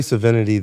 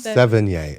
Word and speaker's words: Sevigny: Chloe Savinity, the actor. Sevigny? Sevigny.